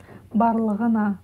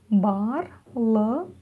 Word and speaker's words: Барлығына: Первое слово барлығына. Ударение на а, барлығына на последнюю а, да. Снова делим все по слогам. Буква «ы» практически не произносится. Бар, барлы, барлығы, барлығына.